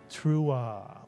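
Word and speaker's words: תרועה: And therefore, the entire first syllable would be teru, mitsuyan, teru. And the second syllable, ah, mitsuyan, the silent ayin with the patach followed by the hey, which is silent at the end of a word, ah. Put the word together and you get truah or truah, mitsuyan. And what does truah mean?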